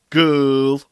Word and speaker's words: gaol: G, a, o, l. Girl. Girl. Girl. Now this is the one that I hear mispronounced more often than not. And there are various reasons for that. And one of them is what I've just pointed out. We have two letters representing one sound.